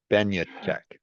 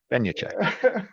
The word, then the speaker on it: Benjatschek: be in the title I had to spell it out phonetically but Ben Che Ben Che there we go and